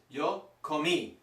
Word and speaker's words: comí: Yo comí. The tricky part's the pronunciation. You've got to put the emphasis on the last letter.